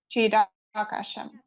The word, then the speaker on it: Chidakasham: More precise pronunciation is Chidakasham.